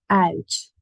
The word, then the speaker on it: uit: This, however, even though it means out, we say it as uit.